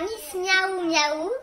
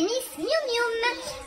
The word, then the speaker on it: Miss Miou Mium: Donc mon pseudo c'est pas Miss Miaou Miaou comme tu as pu le prononcer voilà, dans ta vidéo, c'est Miss Miou Mium.